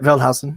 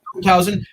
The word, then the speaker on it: Veldhausen: Alexia Veldhausen, who is, did I pronounce the last name correct? Yep, Veldhausen. Yep. Veldhausen.